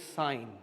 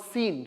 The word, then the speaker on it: sine: the small way is sign actually not seen so don't memory call pronounced like scene is not a scene is a sign okay si any but